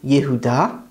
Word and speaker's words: Yehuda: jacob which is yaakov his son judah is actually yehuda and this is where